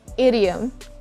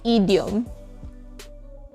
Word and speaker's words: idiom: ink say ink ink say idiom idiom and not idiom secret number four you